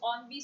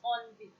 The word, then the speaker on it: ennui: So the pronunciation is ONV. So next time you encounter this word, it's ONV.